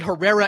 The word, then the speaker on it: Herrera: is how it's pronounced I'm sorry that you don't know the difference between Herrera and Gera which does mean War by the way that is